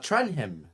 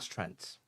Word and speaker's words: Trenham: It's Trenham, not Trent.